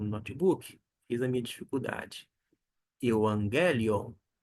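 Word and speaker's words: εὐαγγέλιον: tá bom euangelion euangelion é a pronúncia é uma questão mais de ufia Mas é uma é uma nuance dentro do perigo coin na pronúncia chamada erasmiana a qual nós adotamos com uma ligeira adaptação Vamos então pronunciar ao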